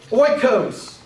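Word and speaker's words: οἶκος: diphthong is omicron yoda anybody want to guess how that's pronounced oil like in oil a greek word is oikos oikos is the greek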